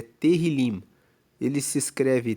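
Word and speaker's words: תהילים: No hebraico, Salmos é terrilim. Ele se escreve t E h i l i m.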